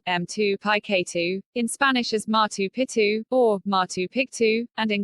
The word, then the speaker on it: Picchu: For most speakers of English or Spanish, the first C in Picchu is silent. In English, the name is pronounced M2Pi2 or M2Pi-K2, in Spanish as Machu Picchu or Machu Picchu, and in Quechua, Machu Picchu, as map parked.